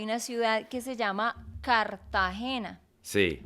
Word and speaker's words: Cartagena: ejemplo, ya Sí, en Colombia hay una ciudad que se llama Cartagena. sí, Cartagena. pero los que viven allá le dicen Cartagena.